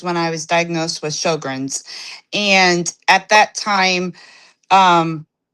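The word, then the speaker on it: Sjögren's: She's dealing with Sjogren's. I think I pronounced it Yes.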